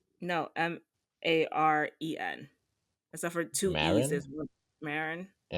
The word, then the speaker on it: Maren: Um, I went to a concert on Tuesday of um and I will pronounce this woman's name wrong every time. I keep on saying Moren.